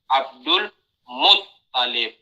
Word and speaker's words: Abdul Muttalib: Abdul Muttalib. Ya, jadi toknya yang ditasydid bukan lam.